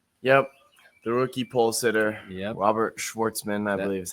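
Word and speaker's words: Robert Shwartzman: The rookie pole sitter, Robert Schwarzman, I believe is how you say it.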